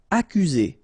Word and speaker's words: accuser: Accuser. You don't need to pronounce double C here, because normally we only pronounce this K.